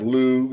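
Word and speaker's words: Lugh: So, they they actually the plane of lug or lug or I I automatically because of you know reading all the Irish myth, I automatically don't pronounce the G.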